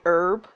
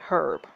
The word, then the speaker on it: herb: Like in America, we say herb, but the Brits will say herb. So we drop the H.